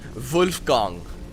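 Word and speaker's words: Wolfgang: German male name or it's properly pronounced in its German pronunciation vulf gong that's right boys and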